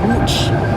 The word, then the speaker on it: Łódź: place this is uh the city of wooch it's spelled it looks like an l but it's